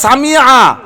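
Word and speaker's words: سمع: সেখানে সামি আল্লাহ, সামিয়ার যদি আইন উচ্চারণ না হয় তাহলে লাহানে জলি, এতেও তার নামাজ নষ্ট হয়ে যেতে পারে।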